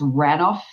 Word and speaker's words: Ranulph: you say his name, but I think it's Ranulph, Ranulph, Ranulph, Fiennes, who supposedly with crew circumnavigated the Earth.